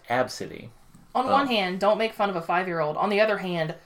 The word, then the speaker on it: Abcde: It's pronounced Absidy.